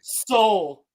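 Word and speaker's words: Seoul: something else but he's from squid game Master Soul Hey Soul they named him after he has no soul dude squid game is a Korean show what's the capital of South Korea Soul the capital spell differently though Capal no it's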